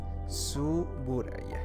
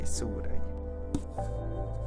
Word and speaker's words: Tsuburaya: Y no sé si pronuncié bien el nombre, es Tsuburaya. Sí, Tsuburaya.